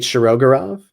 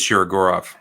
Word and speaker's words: Shirogorov: I think I always know it as Shirogorov. Oh, Put the accent in a different place. Shirogorov.